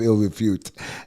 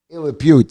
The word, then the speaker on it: ill repute: it's called places of ill refute ill refute is that what it is ill repute I'm sorry uh that's the proper way to say it place of ill repute